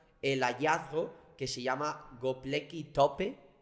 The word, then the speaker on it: Göbekli Tepe: Y de repente luego encontraron el hallazgo que se llama Göbekli Tepe, o no sé cómo se pronuncia. Bien pronunciada, está bien. Así, Göbekli Tepe.